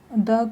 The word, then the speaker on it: the: रहा है, तो इसलिए हमने यहाँ पर द को द प्रोनाउंस ना करके दी प्रोनाउंस करते हैं हम यहाँ पर, दी एंड। ऐसे ही हम इसमें प्रोनाउंस करेंगे दी एलिफेंट, दी एलिफेंट। तो थोड़ा हम ई साउंड को थोड़ा सा खींचते हैं इसमें, मतलब बड़ी ई